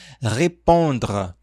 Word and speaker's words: répondre: E aqui responder na forma infinitiva, nós falamos repondra.